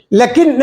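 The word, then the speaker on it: لٰكِن: പക്ഷേ ഉണ്ടോ ഇല്ല ഹാഹൂന അടുത്തത് ലാക്കിൻ ലക്കിൻ എഴുതിയിട്ടുള്ളൂ. വായിക്കുമ്പോൾ എങ്ങനെ വായിക്കും? ലാക്കിൻ വായിക്കും. പക്ഷെ ലാ എന്ന് നീട്ടാൻ കണ്ട് വേണം ഒരു അലിഫിന്റെ കുറവുണ്ട്. പക്ഷേ വായനയിൽ ഉച്ചാരണത്തിൽ അത് കൊണ്ടുവരണം. ലാക്കിൻ അടുത്തത് റഹ്മാനു നമ്മൾ എപ്പോഴും കാണുന്ന ബിസ്മി കാണുന്ന റഹ്മാനു ഇവിടെ എന്ത് കുറവുണ്ട്?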